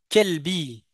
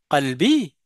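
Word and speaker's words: قلبي: ben je serai euh j'aurais tendance à le prononcer kelbi. Et du coup au lieu de dire à une personne au mon amour kalbi ben je veux dire kelbi qui veut dire mon chien.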